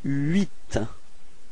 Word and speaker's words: huit: So you've got this first sound is U plus I, and it gives you this ui, ui. Alright, so you get this huit.